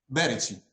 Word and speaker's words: Berici: Am I pronouncing that the right way? Berici.